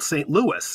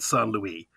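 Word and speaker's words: St. Louis: Mississippi by French Trappers they called it San Luis it's now called St Louis and good American English I would never call it son Louis probably with hyperbole it'll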